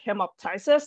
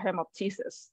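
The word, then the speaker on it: hemoptysis: ways are fine but just remember remember the P so him up says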